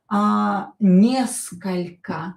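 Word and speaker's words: несколько: Neskol'ko. Da? Or not stressed, pronounce it as a.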